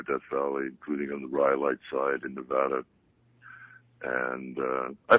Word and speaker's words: Rhyolite: I've been all over Death Valley, including on the Rhyolite side in Nevada, and I pronounced it correctly, didn't I?